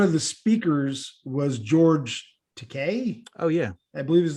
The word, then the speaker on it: Takei: my brother, one of the speakers was George Takei. Oh yeah, I believe is the correct pronunciation.